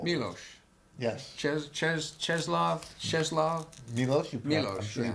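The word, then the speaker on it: Czesław Miłosz: we are all called Milos yes CH cheslav cheslav Milos you I'm sure you pronounce it way better than I thank you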